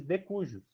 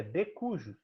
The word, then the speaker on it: de cujus: pessoa que faleceu gente não diz o nome mais gente diz de cujo O Valdemar do amor devinho é falecido Então você ao pronunciar o citar essa pessoa o termo jurídico correto é de cujus e o correto entendeu entendeu então depois